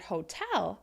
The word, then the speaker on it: hotel: so if you notice when I pronounce the word hotel I'm making that second syllable longer louder and higher in pitch so that makes a